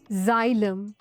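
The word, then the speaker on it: xylem: Nash rule number 10 pronounce x एज ज़ एट the beginning of a word for example जाइलम xylophone xenophobia there are एक्सेप्शनंस फॉर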